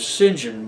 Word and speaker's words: St. John: way to Arabia and by the way they pronounced it is what what is obviously st. John as Sinjin but I don't know why Hey so you